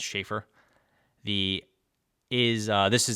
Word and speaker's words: Sheaffer: matte here with the logo it looks like shifur but it's pronounced shaffer the is uh this is their like little